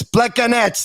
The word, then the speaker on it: Plekanec: fine all right okay we were told so many times it's pleco nets that's how you got to pronounce it hey thanks for doing